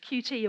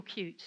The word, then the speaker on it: Qt: working in C++ and QT or cute depending on how you wish to pronounce it so that probably